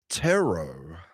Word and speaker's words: ptero: And so, the Greek word for a wing, okay, for the wing of a bird was tero, okay, which is spelled p t e r.